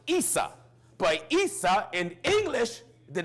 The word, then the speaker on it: Issa: the brother of Jacob in Arabic his name is pronounced Issa but Issa in English